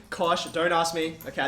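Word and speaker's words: cosh: they're hyperbolic sign hyperbolic CA hyperbolic tan they're pronounced shine Kos don't ask me okay I didn't make it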